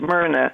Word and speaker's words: Myrna: oh i'm sorry what's your name ma'am it's myrna and i go by it's spelled m-y-r-n-a okay thanks hi renee uh i